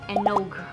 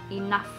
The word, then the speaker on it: enough: If you're Indonesian, when you read the word enough, you would probably pronounce it enog, enog, enough, enough.